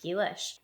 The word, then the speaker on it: Ghee-lish: Gish.